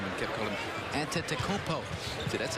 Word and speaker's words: Antetokounmpo: of himself because he thought he had the pronunciation down for Giannis' name and kept calling him Antetokounmpo.